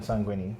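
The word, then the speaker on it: sanguine: you spell it sang sanguini One spell is terrible I spell n g u i n e yeah AR sanguini like Linguini okay good yeah all right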